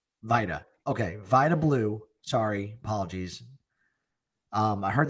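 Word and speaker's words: Vida Blue: Only Vita Blue or Vablau. How do you know how to say it? I always mix this up. Vita. Okay. Vita Blue.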